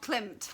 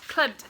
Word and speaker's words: Klimt: Dreaming of Clint, and that's not how you say it. Dreaming of Klimt. Klimt, thank you.